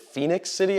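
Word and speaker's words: Phenix City: it like Fenix yeah so it's exactly like Arizona just without the o yeah people were saying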